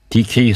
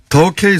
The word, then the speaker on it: 더케이: 아, 더케이 손해보험인데 DK라고 읽으셔가지고 제가, 예.